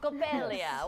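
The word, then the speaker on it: Coppélia: Coppelia.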